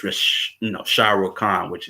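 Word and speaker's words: Raees: you can see is race that's on i'm pronouncing it wrong i know i am but it's r a e e s it's rish you know shiro khan which you know a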